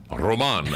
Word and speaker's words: Roman: Roma. How do you say your last name? Roman. I said Roman.